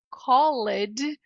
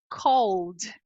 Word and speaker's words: called: que que acontece aqui a gente não pronuncia o e né porque se o e d ess esses dois aqui se transformaram em um a prática eu simplesmente não pronunciei o e só isso apaguei o E então a pronúncia aqui que parece ser Call na verdade é Called Called ou seja do som L você já pula imediatamente pro som D loucura Eu sei mas